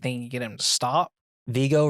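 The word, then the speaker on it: Viggo: Vigo rhymes with ego.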